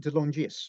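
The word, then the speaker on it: De Longis: Anthony delongis oh yeah I think they pronounced it Del longis but and he see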